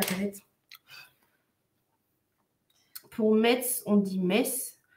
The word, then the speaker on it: Metz: Pour Metz, on dit Metz. Nancy, tu prononces pas le deuxième N à l'américaine.